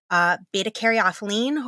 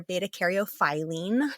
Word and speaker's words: beta-caryophyllene: We're going to cover myrcene tonight, and then we're also going to talk about beta-caryophyllene or beta-caryophyllene, depending on how you say it, limonene or limonene, depending on how you say it, pinene, terpenylene, humulene, ocimene, and linalool.